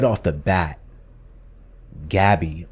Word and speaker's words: Gabi: And I think right off the bat, Gabby, or they pronounce her name as Gabi, Yeah.